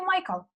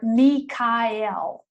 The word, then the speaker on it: Michael: I say Michael. His name is Michael or Mikael, depending on what texts you are reading.